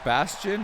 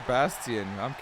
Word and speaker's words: Bastien: Is it Bastion or Bastien? I'm Canadian. That's how you say it in Francais.